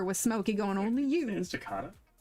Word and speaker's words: Estacada: Estacada? Estacada. Estacada. Estacada. It's Estacada. It's Estacada. Estacada.